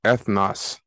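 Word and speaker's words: ἔθνος: So it's pronounced ethnos.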